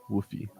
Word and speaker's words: WUFFI: yeah woof okay cool Woofy so I want to I want to pronounce this like Woofy woy it's like a